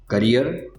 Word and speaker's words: carrier: करियर, कैरियर, दोनों words के pronunciation में थोड़ा सा डिफरेंस है।